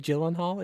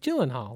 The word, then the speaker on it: Gyllenhaal: It's Jake Gyllenhaal. Like, that's what it is. And he goes, no. The way you'd actually pronounce it technically is Jake Gyllenhaal. And like, apparently that's like, his like native pronunciation of how you'd say it is Gyllenhaal.